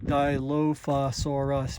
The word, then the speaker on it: Dilophosaurus: But anyways, the tracks are left by a Dilophosaurus, a theropod from the early Jurassic. Uh about 157 million to 266 26 million. The name is pronounced dilofasaurus, meaning two crested lizard.